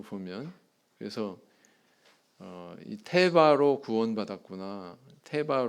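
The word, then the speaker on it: תֵּבָה: 상자 상자라고 하는요 단어는 히브리어로 테바 이렇게 발음합니다 한번 따라해 볼까요 뭐라고요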